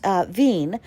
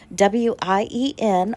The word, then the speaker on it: Wien: It is the Vienna City West Hampton Hotel, and it is at in Vienna, which they pronounce Wien, Wien, Austria.